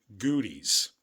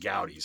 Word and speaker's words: Goudey: The other one, and there are two I always wanted as a kid, my same cousin talked about goodies. Now we found out they're pronounced gouties.